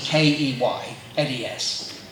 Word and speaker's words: Keynes: I know it's spelled Keynes, K-E-Y-N-E-S, but we prefer to pronounce it Keynes.